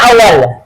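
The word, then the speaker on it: أول: Ini bacanya awwal. Sabahun nur, pagi yang penuh dengan cahaya. Maksud cahaya itu adalah kedamaian, keselamatan, keberkahan, ketenangan. Nah, coba. Kholas? Lanjut? Nah, ini namanya tilmizun awwal. Bacanya bukan tilmizun wahid ya, tilmizun awwal.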